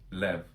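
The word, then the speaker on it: לב: The Hebrew word standing under all of this is lev, pronounced lev.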